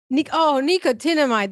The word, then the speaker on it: Nicotinamide: So, how do you pronounce Nicotinamide. Nicotinamide. That makes more sense. Like trying to pronounce, like, I'm not sure how. Okay. Nicotinamide, adenosine.